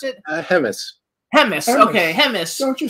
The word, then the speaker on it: Hemmes: with Ron Russell writer director producer Paul C hems hems is right right is that how we pronounce it hemus hemus okay hem don't you speak English well